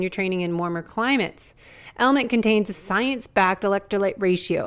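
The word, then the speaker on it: LMNT: of our sponsors Ln element it's spelled l MNT but pronounced element if you haven't heard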